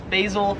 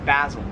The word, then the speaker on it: basil: This plant right here, I would pronounce this, or Americans would pronounce this as basil. However, in Australia, it is pronounced basil.